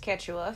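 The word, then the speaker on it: Quechua: word so thank you for that it's it's pronounced ketua fantastic um it has it's it's got more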